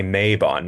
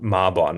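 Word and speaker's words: Mabon: even mispronouncing it like the books were telling me to say Mayabon not Marbon or Marbon you know and so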